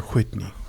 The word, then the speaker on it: Whitney: Is it Whitney or Whitney? Whitney. You got to pronounce that H.